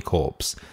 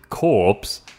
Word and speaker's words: Corps: and New Zealand Army Corps, also known as ANZAC, which say was established... Corps. Isn't it core? C-O-R-P-S. Yes, Core? pronounced core.